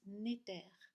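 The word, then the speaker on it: netr: la définition, cela vient du mot Égypte N-E-T-R qui se prononce Néter, qui veut dire l'esprit, et al qui veut dire lié à, venant de.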